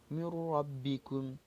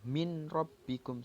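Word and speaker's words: مِن رَّبِّكُمْ: Contoh, mir rabbikum, langsung memasukkan nun sukun ini kepada ra. Jadi bacanya langsung ke ra-nya. Tidak jelas. Tidak dibaca min rabbikum, salah. Tapi dibaca mir rabbikum.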